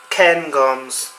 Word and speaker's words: Cairngorms: Cairngorms. Oh, I did pronounce it correctly.